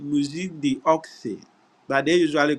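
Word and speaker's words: Musée d'Orsay: the oxy in French museum is spelled m u s e e and then the do say is the apostrophe o r s a y so it's called music the ox but they usually call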